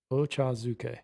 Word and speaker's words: ochazuke: i have it written down so i can pronounce it right ochazuke yeah yeah ocha being tea yes it's like